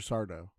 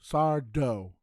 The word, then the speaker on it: Sardo: Sardo. He would then get irritated and exclaim, "That's Sardo, no Mr. Accent on the dough."